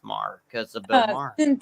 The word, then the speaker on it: Maher: Marr, because the same Bill Maher is spelled exactly the same way, so it's Marr.